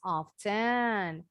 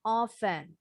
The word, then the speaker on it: often: seberapa sering melakukan sesuatu bacanya Boleh dengan bunyi teh yang jelas often atau t nya dibuang oven sama ya orang Inggris sama orang Amerika dua-duanya pakai dua pengucapan ini tapi kalau orang Inggris lebih Miss lebih sering dengernya Mereka bilangnya tanpa t tapi ada juga yang bunyi t nya jelas kalau orang Amerika kebanyakan bunyi p nya jelas tapi banyak juga